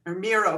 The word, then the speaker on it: Miro: There's all sorts of startups that are, and Miro being one of Miro, kind of like the Barcelona artist, Miro, that I think it's spelled.